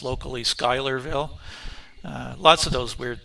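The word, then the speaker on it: Schuylerville: sure of the pronunciation, but I believe it's Skylerville, but it's spelled with a c s at the beginning of it, which looks like Shylerville or something like that, but it's pronounced locally Skylerville.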